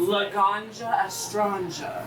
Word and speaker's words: Laganja Estranja: And how do you pronounce it? Laganja Estranja.